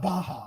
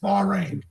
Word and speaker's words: Bahrain: She I suspects think someone it's pronounced forward- Bahrain, not Baja. I think I'm just putting it out there. I'm so glad you stopped everything. It's Bahrain.